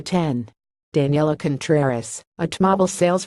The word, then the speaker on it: X: calling it the 10 I've called it the X a couple times but been corrected I know it's supposed to be called the 10 Daniela Contreras at mobile